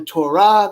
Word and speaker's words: Torah: Shema is correct, and it is pronounced the Shema, and it is pronounced very, very, very good, very good. And it's called the Torah.